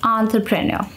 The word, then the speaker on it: entrepreneur: is as follows here's a breakdown of how to pronounce its syllable by syllable syllables are the sounds that are contained in a word okay on pronounced like the on sound in the word Dawn it's similar to the short a sound but with the nasal quality on right true pronounce like true it rhymes with the words like duh